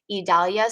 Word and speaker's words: Idalia: name on the list the pronunciation idalia so e-e-d-a-l-y-a those can also be